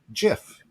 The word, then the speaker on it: GIF: peanut butter here yeah the actual inventor of the gif says it's pronounced jiff yeah see that's curious